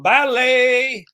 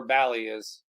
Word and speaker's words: Bali: so a drink of the week comes from balet that's right Randy from balet bet you don't know where Bal is what country saying it right anyway Bali Bali